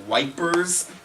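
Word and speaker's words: Ypres: is the battle of yeep uh there's a couple different ways to pronounce the name yep yes the british called it wipers with a w this is a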